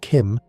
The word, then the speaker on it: CHIM: CHIM, pronounced Kim, is the state of